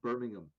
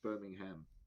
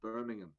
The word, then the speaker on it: Birmingham: i first feel the need to clarify it's pronounced birmingham it's not birmingham it's birmingham uh number two uh i i i think